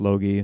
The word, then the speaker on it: Logie: Looks like Lefty Logie, but it's pronounced Logie.